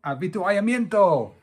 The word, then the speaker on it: avituallamiento: Avituallamiento.